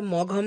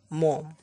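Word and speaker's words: Maugham: বাই ডব্লিউ সোমসেড মম উচ্চারণটা মঘাম নয় মম unit one princess September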